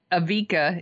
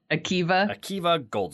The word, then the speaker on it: Akiva Goldsman: So And that Avika, is that how you pronounce it? Avika Goldsman? Akiva Goldsman.